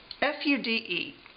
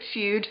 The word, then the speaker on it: Fude: It's called the Sailor, F-U-D-E. I say this all the time in pens. I pronounce it Fude because it's F-U-D-E.